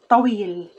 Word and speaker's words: طويل: The second syllable, wheel. Put the first with the second. Ta. Wheel. Tawil.